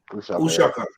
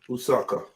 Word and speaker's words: uShaka: How do you say Ushaka? Usaka. Ushaka. Yeah. You don't say the H. No. Usaka. Just shot. Like a shot sound, not a sound.